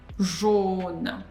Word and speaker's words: jaune: Jaune. Jaune. Jaune. Jaune. So here we have closed O. AU, two letters, always give us O, closed O sound.